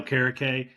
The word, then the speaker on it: Okereke: Yeah, Okereke.